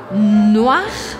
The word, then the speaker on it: noir: On dit en noir et blanc. En noir et blanc. Noir. Porque tem um O seguido de um I, então esse som vira o A, noir e blanc, blanc que